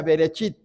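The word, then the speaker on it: בראשית: Por ejemplo, vean ustedes ahí en sus Biblias, Génesis 1:1 dice, "En el principio y en hebreo se pronuncia berechit, pero la traducción griega, la traducción que más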